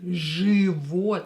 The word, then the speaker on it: Живот: Живот, so don't try to pronounce it as живот or something else. No, pronounce it as живот with I, but write I here, because Ж does not support I after it. Живот.